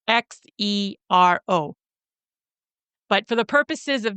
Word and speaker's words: Xero: Now, if you're interested in an alternative to QuickBooks, another app you can use is called Xero, and Xero is spelt with an X, so it's Xero.